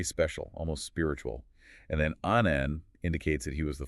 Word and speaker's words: Annan: He liked to point out that Annan rhymes with cannon.